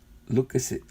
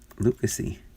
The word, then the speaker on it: Lucchesi: It's pronounced Lucchesi? Who was that? Lucchesi.